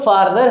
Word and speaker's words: farther: तो इसमें क्या दिख रहा है, जो फार्दर है इसको हम किस तरह से प्रोनाउंस करते हैं, जिस तरह से हम कहते हैं कार, है ना, स्टार, यानी इसमें ऐसा समझो जो FAR है वो FAA करके यानी आ करके बोलना है, फार्दर।